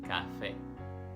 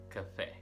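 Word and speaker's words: café: day or more a central good is in the e so it's not cafe it should be cafe cafe number five acai when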